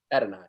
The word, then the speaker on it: Adonai: Adonai. Yeah. Adonai Mitchell.